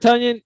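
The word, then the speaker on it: Tonyan: shows we do like robert tunion eats a lot of funyuns yeah right ben that's how we remember to say his name right because you you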